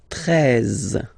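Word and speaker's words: treize: Then now if you combine this E and E, you get the sound E, really open. 13, 13. Final E, as usual, not pronounced.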